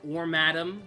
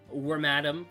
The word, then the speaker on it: Wormadam: wormadam is uh or wadam however you want to pronounce it I know there's people who say wormadam cuz it's it's Madam and it's the female uh wormadam some people say